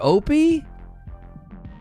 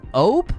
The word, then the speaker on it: ope: say that ope or opie how are you pronouncing it phonetically ope like hope without an h op is a thing